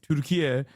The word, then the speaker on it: Türkiye: Türkiye is the actual Turkish pronunciation of the country's name.